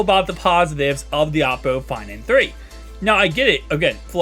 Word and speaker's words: Oppo: I think it is technically pronounced Oppo, although every single tech reviewer calls it Oppo. I did for the longest time until I heard OnePlus CEO himself call it Oppo.